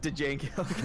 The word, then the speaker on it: Django: pronounce the D in Django Unchained? Yes. Django.